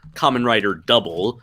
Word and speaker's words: Kamen Rider W: So when you watch the series Kamen Rider Double, it is supposed to be pronounced Kamen Rider Double, not W.